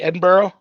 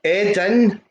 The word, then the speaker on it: Edinburgh: I have to ask you about, I've never been, am I pronouncing it correctly, Edinburgh? It's, no, right, break it up for you. It's Edinburgh.